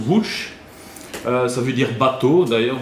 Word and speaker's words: Łódź: L'histoire commence à Łódź, donc ça se Lotz, mais en polonais ça se prononce Łódź.